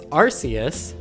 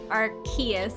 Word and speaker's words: Arceus: Technically speaking, it's Arceus with a K sound. Okay, so Kayla votes Arceus.